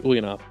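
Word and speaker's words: Ulyanov: this time I'm saying it right Vladimir ilich ulanov uh otherwise known more properly known as Vladimir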